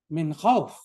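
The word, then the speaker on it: خوف: Do you read وَآمَنَهُمْ min khawfin, or do you read وَآمَنَهُمْ min khawf? You should do khawf. So at the end of a phrase in Arabic, you typically don't pronounce the ending. You don't pronounce the ending vowel. So going back to the book, inshallah.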